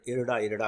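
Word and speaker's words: IRDAI: आर डी ए आई लेकिन अखबारों में जब आप पढ़ेंगे तो इसका उच्चारण इरडा इरडा के रूप में किया जाता है रडाई के रूप में नहीं किया जाता तो इसका हिंदी अनुवाद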